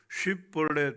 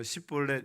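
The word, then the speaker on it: שיבולת: 쉿볼렛 발음이 안 되고 십볼렛 이렇게 발음하면 요거 에브라임 지파구나 하고 다 죽여버린 거예요.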